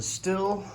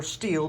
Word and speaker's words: Stihl: Hey guys, this video is on the STIHL or STIHL, depending on how you want to pronounce it, Farm Boss chainsaw.